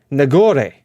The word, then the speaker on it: Nagore: Nagor. Nagor. How do you say it in Spanish? Nagore. Nagore. Interesting. Nagore.